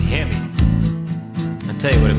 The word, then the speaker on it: Hemi: what it means when I see that word he me on the side of your Moine will I damn near cry I said son that's pronounced Hemi I tell you what it means h means